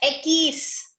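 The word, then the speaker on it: equis: X is pronounced as Ekis. Okay, ma'am. Ekis.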